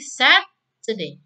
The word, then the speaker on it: Saturday: Contohnya ini ya, longer lebih panjang, berarti Saturday. Kata set ini dibaca lebih panjang. Today-nya dibaca pendek.